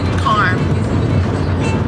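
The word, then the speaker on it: Karm: You say it the way it's spelled. Calm. C-A-R-M. Calm.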